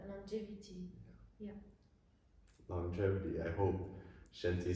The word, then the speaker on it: Shenti: it's shanti nashanti but actually no it's shinty it's a chinese word that means body and health and when you look